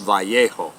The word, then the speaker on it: Vallejo: Basil the Great Elementary School in my hometown of Vallejo, California. But I finally know, moving here, I know it's actually pronounced Vallejo.